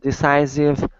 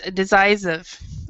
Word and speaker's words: decisive: Let's go over the pronunciation of that word, because what you said was decisive. Okay. So and with the C. You have to actually have it kind of stronger. Decisive. Decisive. Yeah, exactly. Decisive.